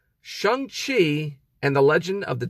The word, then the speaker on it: Shang-Chi: a movie i saw shang qi what oh that's how you pronounce the name sorry excuse me shang chi and the legend of